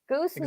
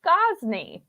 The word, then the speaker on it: Gosney: I may or may not have pronounced your name wrong several times. Goosney. Yeah, Goosney. That's exactly how I said it. I thought it was... No, it's Gosney.